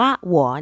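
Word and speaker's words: 我: แต่ง ตัว เรียบ ง่าย คำ ว่า หว หัว ใน ประโยค นี้ ออก เสียง ว่า หวัว นะ คะ แปล ว่า ฉัน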